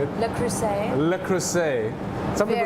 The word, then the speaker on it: Le Creuset: Le Creuset. Le Creuset. Some people say Very La Crozette, where I come from, and No, the price it's is a the same.